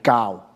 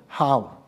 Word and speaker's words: 酵: 咁但係咧，正確呢個字嘅讀音係教面教，一齊講面教啊！